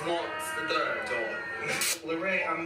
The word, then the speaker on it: Larray: me reacting to larae i said larry at first it's larae wright let me know if i'm